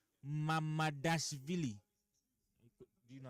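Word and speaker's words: Mamardashvili: Mamadashvili. Do you know how to pronounce it?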